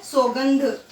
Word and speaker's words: सौगंध: आगे है सौगंध। ये क्या है, सौगंध। औ की मात्रा आ रही तो औ ही बोलेंगे, सौगंध, ना कि सौगंध।